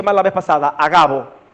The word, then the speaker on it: Agabo: Llamado, perdónenme que lo pronuncié mal la vez pasada, Agabo. Si fuera Ágabo, el acento fuera en A, porque es esdrújula la palabra. Agabo.